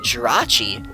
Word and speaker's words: Jirachi: space is a deoxys B does Lord C Jirachi or D el djem or l GM I'm not actually sure how to pronounce that it's it's because ultra beasts are